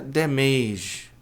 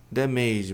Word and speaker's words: damage: Dano ou danos é essa palavra aqui que a maioria das pessoas pronuncia damage. Damage, mas a pronúncia correta é damage.